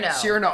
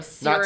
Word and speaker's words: Cyrano: Cyrano.